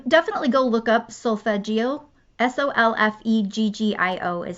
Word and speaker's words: Solfeggio: Solfeggio is how you say that, frequencies.